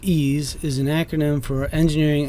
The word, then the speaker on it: EES: EES pronounced ease is an acronym for